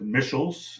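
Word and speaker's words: Michels: law was something that mitchell's that's the way he pronounced his name robert mitchells studied um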